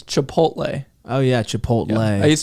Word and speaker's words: Chipotle: said Chipotle ha Chipotle is a it's not chipot CH it's Chipotle oh yeah Chipotle I used to pronounce it like that when I was like